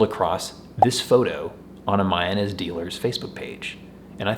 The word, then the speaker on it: Mayones: And yes, it's pronounced Mayones by the employees of the company, so I'm gonna stick with their pronunciation because they probably know what they're talking about.